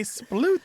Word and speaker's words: sploot: spaying out the Splat I can also see um the oot part I don't I didn't have a particular good explanation in my own head except to sort of verify it and it rhymes with cute oh other terms for